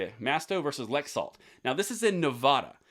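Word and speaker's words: Laxalt: You've got Masto versus Lexalt, I believe is how you say it. Masto versus Lexalt.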